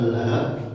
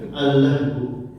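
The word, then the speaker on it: اللهب: Kemudian boleh juga Al-Lahab, boleh juga dibacanya Al-Lahbu. Boleh dibaca Al-Lahbu, hanya disebut juga boleh. Karena Nabi kata Syekh Utsman Al-Khamis pernah membaca dengan sukun juga, Abillah bin gitu.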